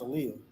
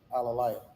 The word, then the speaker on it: Aaliyah: Oh, she said her name is pronounced Aaliyah, not Alalaya.